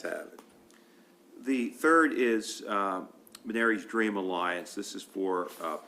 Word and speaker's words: Menary's: Menary's, okay, I just want to pronounce it correctly, Dream Alliance.